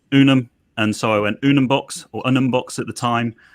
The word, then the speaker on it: Unumbox: So the name Unumbox, how did that come about, Simon? So I wanted I'd love a one-syllable word.